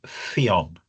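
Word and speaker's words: Ffion: If there's only one F F it's a V sound and that it does not end on a vowel. So the Welsh name is Fon a lovely says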